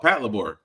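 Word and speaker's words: Patlabor: real robots comes in uh how do you pronounce that pat pat laor la oh Pat labor gotcha all right we'll play it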